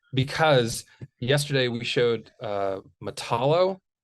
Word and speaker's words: Matalo: yesterday we showed uh matalo or is it pronounced I think Alex pronounced it matala so we'll go with that from 1970.